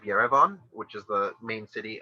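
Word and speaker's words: Erivan: eddie van gaal right eddie von is the muslim pronunciation of yerevan which is the main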